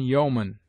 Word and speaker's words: yeoman: EO is found in yeoman, where it is sounded as O short, and in people, where it is pronounced like EE.